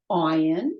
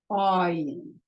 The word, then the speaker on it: ayin: Okay, ayin, silent. Okay, they have names, but the letters themselves are silent. Aleph is silent, ayin is silent.